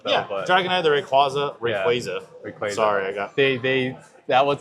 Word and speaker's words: Rayquaza: yeah, but Dragonite, the Rayquaza.